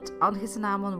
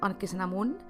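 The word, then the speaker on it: Anchesenamon: And actually, in English you would pronounce it Anchisenamun, and it's spelled differently, but I use the Dutch spelling and Dutch pronunciation because I am Dutch.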